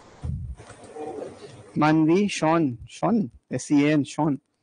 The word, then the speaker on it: Sean: शॉन, शॉन the sheep याद है? अब वो स्पेलिंग अलग थी, बट वही वाला शॉन है ये।